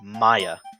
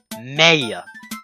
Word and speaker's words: Maya: pronounce it as say Maya it's pronounced Maya like mayonnaise which is kind of